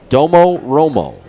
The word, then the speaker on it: Domo Romo: with a fast ball Domo Romo it is spelled exactly the way you would say it d o m o r o m o Domo Romo 10